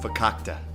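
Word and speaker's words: farkakte: Just keep your lips zipped when they're here, or my entire life will be verkackt. That's Yiddish for effed up. It's pronounced fakakta.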